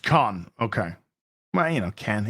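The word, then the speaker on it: Caen: And uh it's pronounced Khan.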